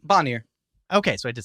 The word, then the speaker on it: Bonier: Bonnier.